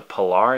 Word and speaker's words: Pilar: This is known as the Pilar. Yes, that is the correct way of pronouncing it.